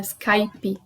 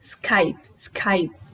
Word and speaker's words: Skype: que a gente fala Skype no inglês a forma correta de pronunciar essa palavra é sem esse som do e no final sem vogal nenhuma dão o são para